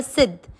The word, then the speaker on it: सिद्ध: के साथ आधा द सिद्ध, और फिर है ध। द और ध का उच्चारण भी ध्यान रखने लायक होता है। कैसे? अपन सिद्ध, ध पे थोड़ा जोर देके बोलेंगे तो सिद्धा, और थ के ऊपर